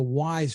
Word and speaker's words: Wyze: And for only $20, there's one called the Wise Watch. Looks pretty sophisticated. It looks great, but it sells for only $20. It's spelled WYZE.